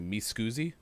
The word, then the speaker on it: Mi Scusi: other one is am i saying it correctly me scoozy yeah okay so let's let's walk us through